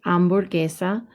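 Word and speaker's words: hamburguesa: cognite la ambor quesa remember the h is silent so it's not hamburger it's amburgesa now i like mine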